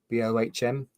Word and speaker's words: Bohm: about before, David Bohm, Bohm. Never quite sure how to pronounce his name. I think it's just Bomb, but it just sounds unfortunate, really.